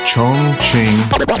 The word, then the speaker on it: Chongqing: Chongqing.